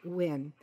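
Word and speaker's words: Nguyen: for our listeners that spelled ng u ye N and pronounced win in the story violent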